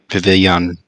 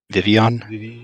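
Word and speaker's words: Vivillon: many of a billion pavilion you don't pronounce the l vivion yeah vivian because it's like pepe like butterfly um yeah vivian how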